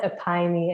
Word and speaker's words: Epione: Is it Epione MD? We call it Epione MD.